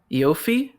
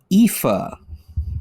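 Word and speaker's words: Aoife: you can get it eofi yofi no that is pronounced IFA what the heck this is not pronounced IFA yeah that's pronounced IFA dude this is a bad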